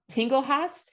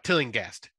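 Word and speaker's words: Tillinghast: uh is dr crawford tinglehouse is that how you say it tingle nope uh tilling guest tailing yes a survivor of dr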